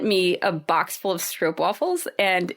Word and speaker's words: stroopwafel: Like we say stroopwafels, but apparently I've been saying it wrong because, if you live in the Netherlands, they're actually pronounced, I think, stroopwafels.